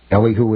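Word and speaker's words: Elihu: years later the Lynn Unitarian Church was the site of the funeral service for GE co-founder Ellie who Thompson Ellie who is the way Wikipedia says to pronounce it I've always wondered service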